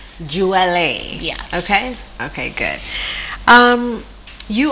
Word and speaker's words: Jewele: My name is pronounced Jewele. Okay, so for the record, it's Jewele.